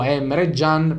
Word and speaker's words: Emre Can: capito e lo sapete io dico m gian perché alla turca come lo voglio pronunciare io sì dicembre jean lui stesso si chiama da solo m reggiano perché si pronuncia alla turca pure stato tedesco e